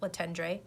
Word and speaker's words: Letendre: pronounce too late' on looks like Letendre it rhymes with baton so it's not even close to what it looks like written down but how you you